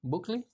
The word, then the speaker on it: Bukele: Bukele?